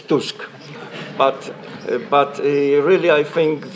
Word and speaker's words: Tusk: pronounced Donald Tusk and I should remind you that musk is musk Tusk is Tusk but but really I